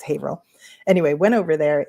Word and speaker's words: Haverhill: So, his birthplace is maybe 15 minutes away in another town called Haveril, which um people frequently mispronounce as Havhill. Now, you have a Massachusetts insider, so it's Haveril.